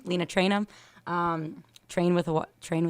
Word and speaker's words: Traynham: Instagram it's l-e-n-a-t-r-a-y-n-h-a-m it's just my name Lena traynum um train with a train with wide and ham that's how it's spelled yeah yeah basically there you go um